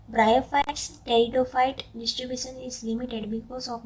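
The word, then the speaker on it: Pteridophyta: तो आल्गी, ब्रायोफाइटा, टेरिडोफाइटा, पी तो silent है, एबीपी न्यूज़ आप देखते हो ना, तो आप यहाँ पे ऐसे याद रख सकते हो, एबीपी एल्गी, ब्रायोफाइटा, P silent, but एबीपी टेरिडोफाइटा।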